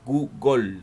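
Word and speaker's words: googol: término google proviene de la palabra google se pronuncia google creada por el matemático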